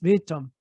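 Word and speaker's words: Witam: It's actually spelled with a W, but yes, Vitam.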